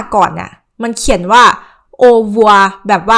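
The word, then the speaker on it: au revoir: แปล ว่า ลา ก่อน คือ เวลา ที่ คน ฝรั่งเศส ออก เสียง คำ นี้ กัน ใน ชีวิต จริง อ่ะ คำ ว่า เ อ่ะ มัน ออก เสียง เบา มาก จน เหมือน แบบ เหมือน ได้ ยิน เขา พูด กัน แค่ ว่า โอวัว โอวัว โอวัว เอา ซึ่ง เรื่อง นี้ นะ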